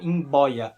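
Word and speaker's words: mboia: ao português por exemplo imb boia imb boia significa cobra e nesse caso o b é é bilabial in boia em boia a palavra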